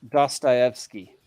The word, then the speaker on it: Dostoevsky: And it's pronounced Dostoevsky, just so everybody knows.